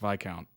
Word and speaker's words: Viscount: too impressed by the Viscount uh the or by count I think I think you said that Luke s is silent or something PA developed